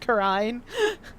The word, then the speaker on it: Kurain: Maya lives in I'm gonna pronounce this Kurain village because that's what it looks like. It's probably more accurately pronounced Kurine. Or Kurine, or something along those lines, depending on where you put the emphasis.